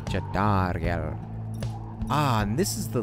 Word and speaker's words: Jodariel: Jodariel, that's how you say her name. Jodariel.